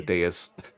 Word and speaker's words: dais: I'm just gonna call it a dais because it rhymes with a chaos.